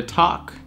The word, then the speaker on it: talk: И та же самая хитрая L в слове talk.